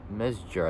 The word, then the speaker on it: Mezger: partnership with Hans Mesger, which is Mesger, I think, which is spelled Mezger, who was born on November 18th, 1929, and passed away on June 10th, 2020.